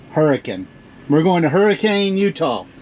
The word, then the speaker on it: Hurricane: going to Hurricane Utah which we're told it's pronounced hurricane hurricane we're going to Hurricane Utah so the Lincoln